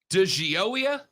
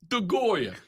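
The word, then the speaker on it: DeGioia: than a year jack does jack de gea pronounce his name for me lonzo d-i-g-i-o-i-a de gioia the guy the goat the goya so uh jack the goya chairman of the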